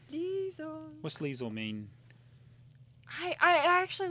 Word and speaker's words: Liesel: Liesel. What's Liesel mean? I actually looked it up and I don't remember. It rhymes with diesel.